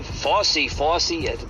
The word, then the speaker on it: Fauci: the FY story FY FY that's how you say his name I can never say